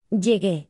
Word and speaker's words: llegué: Verbs ending in Gar. like Llegar. change G. to Gu. in the Yo. form Llegué. to maintain the hard G. sound but remain G. for other forms.